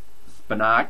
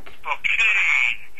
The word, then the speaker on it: Spokane: Spinac? Spokane Shock.